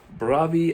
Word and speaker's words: Bravi: Now, as you can see, this is called Bravi Alpini. Bravi is how they said it on Google. They pronounce the R, Bravi.